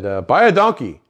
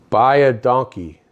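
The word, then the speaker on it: baie dankie: it in Afrikaans but it means thank you enough for Khan just like thank you but it sounds like by a donkey you know in Kenya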